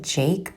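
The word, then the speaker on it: JVKE: artist I'm pretty sure he pronounces it Jake but it's spelled g j v k the album this is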